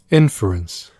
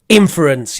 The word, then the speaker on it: inference: quick check for the correct word stress of that word inference inference yes that sounds a lot better don't know why I kept saying inference maybe because the verb is infer so we're going to